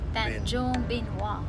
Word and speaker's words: Tanjung Benoa: Tanjung Benoa.